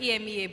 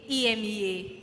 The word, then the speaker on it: EMEA: And I mean, I've tweeted something about it in the past, so I was like, EMEA, but the A is silent.